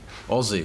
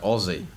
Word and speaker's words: Aussie: Aussie. We say it like Aussie. Like Ozzy Osbourne.